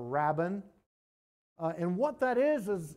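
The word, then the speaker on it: Rabban: the title Rabon and I don't know whether I'm pronouncing that right it's r a BB an so I think it's Rabon something like that or Rabin uh and what that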